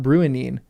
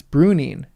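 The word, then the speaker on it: Bruinen: So brunin is not bruining. It's bruning cuz it's like ruin as in it's like the ui is in ruin.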